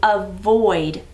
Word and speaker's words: avoid: one's a little tricky let's look at the syllables huh void when we hear the uh sound it's that lazy schwa sound so whenever you hear uh at the beginning it often times is the vowel or is the the